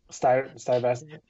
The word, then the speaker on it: Stuyvesant: I'm glad we got the person from New York to pronounce the team name, because I always mess it up. Stuyvesant.